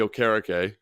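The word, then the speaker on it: Okereke: bit like Bobby okar am I saying that correctly is that right yes okar thanks Mike Rico for saying that properly on on Sunday Night Football for you know that that's how you say it yeah so um if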